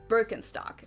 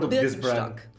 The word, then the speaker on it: Birkenstock: their native accent so English speakers usually say Birkenstock in German we say heard Birkenstock Birkenstock which literally translates to Birch